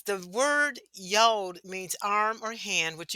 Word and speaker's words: Yod: Yod means, okay, the 10th letter of the Hebrew alphabet is called Yod, rhymes with mode, has the sound of Y as in yes.